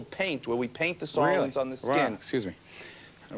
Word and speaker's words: psoralen: Psoralen is a word that starts with P, but it's pronounced with an S, psoralen, and ultraviolet A and comes from the sun.